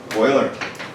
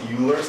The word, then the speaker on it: Euler: mathematician Swiss anyone knows boiler that's correct block you pronounce Euler's not alert spoiler oil now this guy